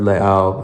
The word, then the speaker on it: Leao: Yeah, and you are a beautiful person, and shout out to Bird Leao, another beautiful person. And you pronounced the last name right. Yeah, there's the glottal stop. It's like Ka'anapali.